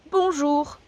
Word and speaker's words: bonjour: and German stay so it's literally good day Bonjour Bonjour so remember those sounds that we learned mmm they're coming useful now boom jewel that's hello all and there's another one that